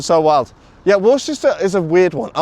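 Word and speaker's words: Worcester: Worsters. What's your sister? I I beg your bloody pardon, sir. I love British pronunciation so wild. Yeah, Worchester is a weird one.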